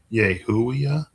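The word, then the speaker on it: Yehuiah: 33 is pronounced something closer to Yehuia.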